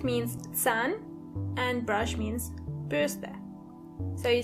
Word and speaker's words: Bürste: Die Bürste. Die Bürste. And remember, you don't pronounce the R as R, but more like R. So the word is die Bürste.